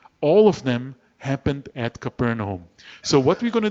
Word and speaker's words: Capernaum: All those miracles, and probably more that were not written, all of them happened at Capernaum.